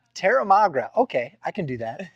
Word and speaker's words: Terramagra: How do you pronounce that again, bro? Terramagra. Terramagra.